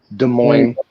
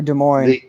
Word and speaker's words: Des Moines: pronounce it this morning's des moines or des moines the s is silent on it's dub like you're